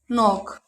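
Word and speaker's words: knock: इसे पढ़ेंगे night, no, knife, knowledge, नॉक। आगे देखते हैं एल साइलेंट कब होता है।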